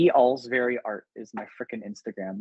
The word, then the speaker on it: Olcsvary: It's Olcsvary, and it's pronounced Olcsvary.